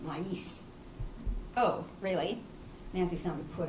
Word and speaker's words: maíz: Helen said, the Spanish word isn't pronounced with a long A, Nancy. It has 2 syllables, maíz.